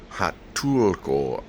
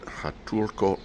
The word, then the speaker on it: Huatulco: Well, I'm about to arrive in Hatulo, Mexico is how they pronounce it. Hatulo, Mexico.